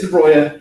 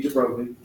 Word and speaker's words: de Broglie: So it is de Broglie, even though in English it'd be de Broglie.